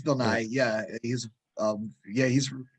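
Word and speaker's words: Bill Nighy: this name bill nye is it just bill nye or naive bill nye it's bill nye yeah he's um yeah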